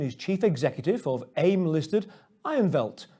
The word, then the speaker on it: Ironveld: chief executive of aim-listed ironvelt to give it his south african pronunciation ironwelt listed on aim with